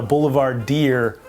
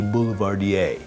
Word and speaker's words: Boulevardier: I spent tons of time studying and I came across very early on the whiskey Negrroni called a Boulevard Deer or so I thought.